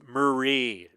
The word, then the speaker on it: Marie: Not Mary. I hear lots of people pronounce it Mary, and it's Marie.